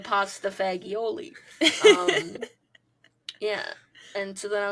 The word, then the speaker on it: pasta fagioli: for this recording is pronounced pasta fajoule. You go to an Olive Garden and you hear people order. It's the pasta fagioli.